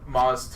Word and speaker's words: Maz Kanata: Yeah, but also like now Maz, whoever, how you pronounce it, Maz Kanata. Maz, but it's spelled M-A-Z. Dude, It's Star Wars. It's Star Wars. Yeah. fuck, I just had it written. But Maz tells her about the Force.